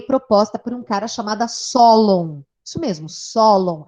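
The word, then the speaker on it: Sólon: por um cara chamada Solon mesmo solo s o l o m não s de sapo ou de ônibus LD lápis ou de ônibus n de navio e acento na primeira sílaba solo nome dele acho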